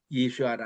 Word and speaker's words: 예슈아: 그 이름을 예슈아라 하리라. 이게 본래 예수라는 예수라는 엘라말의 본래 바람은 예슈아입니다. 예슈아는 이게 아람 발음이기도 하거니와 또 히브리적인 발음이기도 합니다.